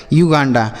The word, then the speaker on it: Uganda: तो अगर यू के साथ एक वावेल लिखा हो, मतलब यू के बाद एक अक्षर छोड़ने के बाद लिखा हो, तब हम यू का उच्चारण यू करते हैं। ठीक है, जैसे यूनिट, यूनियन, यूनिक, युगांडा।